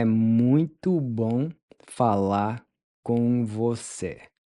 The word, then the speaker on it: com: Then the C is pronounced like the C in Bronco or Bianca in English.